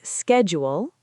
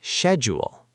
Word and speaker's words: schedule: Some people say schedule. Some say schedule. Both are okay.